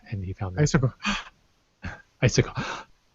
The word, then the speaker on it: Issaquah: Issaquah. She almost says isocore.